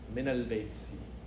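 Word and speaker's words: مِنَ الْبَيْتِ: And in the Arabic language, when two sukoons meet, you can't pronounce the word. You know, so that's why for recitation, for pronunciation's sake, the Arabs have changed that to a fatha. Min al-bayti.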